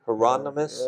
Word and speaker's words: Hieronymus Bosch: Am I pronouncing his name correctly? Hieronymus Yes.